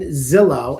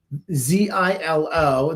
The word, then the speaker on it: Zilo: I hope I'm saying it correctly. Zillow. ZILO. This is a very significant development. Ripple isn't just building payment rails anymore. They're building the infrastructure institutions need to issue, manage, and move tokenized assets by investing in Zilo, Z-I-L-O, and Liquido.